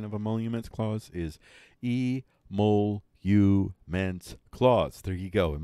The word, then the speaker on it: emoluments: pronunciation these are the trending topics folks the pronunciation of a monuments Klaus is e mole you man's cloths there you go and monuments Klaus the